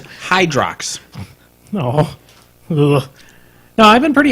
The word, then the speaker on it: Hydrox: way I don't know the correct pronunciation is Hydrox oh now I've been